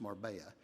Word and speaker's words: Marbella: It's spelled Marbella, but it's pronounced Marbella.